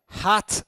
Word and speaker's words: hat: Then we have gloves, che sono i guanti, poi abbiamo hat, che è il cappello, questo è facile, ricordiamoci l'H aspirata, ok? Quindi hat, ok?